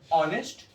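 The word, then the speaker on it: honest: एन ऑनेस्ट, क्योंकि हमें रटवा दिया गया है कि एच क्या है? साइलेंट है, इसकी प्रोनाउंसिएशन क्या आ रहा है? अ से हो रहा है, इसलिए इसके पहले एन का यूज होगा।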